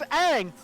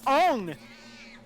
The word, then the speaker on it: Aang: Because they absolutely mispronounce the characters' names all the time. Like, oh, look at this, it's Aang! Oh, you must be Ong!